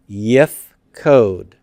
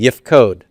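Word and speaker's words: יִפְקֹד: So how do I say he will appoint? Yifkod. Say that with me. Yifkod. Yifkod.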